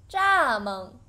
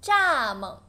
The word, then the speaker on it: 蚱蜢: Grasshopper, 蚱蜢. The last character, 猛, light tone, 蚱蜢, good.